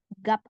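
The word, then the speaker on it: 값: Bacimnya ada 2, biep sama siat. Yang dibaca hanya yang depan. Jadi kita bacanya gap aja. Siatnya gimana? Abaikan. Ya, gap.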